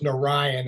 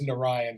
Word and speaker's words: Narayan: It's Narayan is how you say his last name. So but I said it wrong on the Berniard. As soon as I said it, I knew I screwed it up. I went and double checked. It is Narayan.